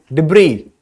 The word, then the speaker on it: debris: underlined word refer to debris as silent so we are going not we are not going to pronounce s over here it's a silent letter now debris what do